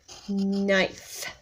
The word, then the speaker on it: knife: Slice meat like a, and then that bossy E one also with a silent K. Like a knife.